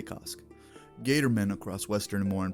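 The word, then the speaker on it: Kossk: worship of cost and I'm pretty sure I'm pronouncing that right it's k o ssk k so I'm going to say cost Gator men across Western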